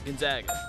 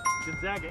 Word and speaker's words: Gonzaga: out of uh spokane washington what was it gonzaga gonzaga and you pronounce it correctly yeah not gonzaga or whatever